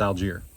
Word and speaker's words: Algiere: But it's Jay and Charlotte, and I had him pronounce the name, so I know it's Algier.